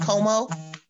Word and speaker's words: Comeaux: It's got a French twang to it. It's pronounced Comeaux.